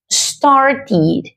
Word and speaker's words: started: Pues hay una regla que nos dice que cuando un verbo en su forma base termina en t o en d, lo que pasa es que en su pasado la pronunciación sonará como ir.